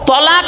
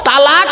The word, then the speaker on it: তলাক: তালাক মানে জুড়ে যাওয়া, মিলিত হওয়া, একত্রিত হওয়া, জমা হওয়া। আমরা তলাক না বলে সব তালাক বলি।